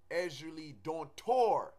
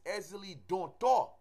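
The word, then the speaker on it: Ezili Dantor: In the West, a lot of people say Ezuli Dontor with an R. There is no R. It's Ezuli Dontor. You know, with an accent over the O.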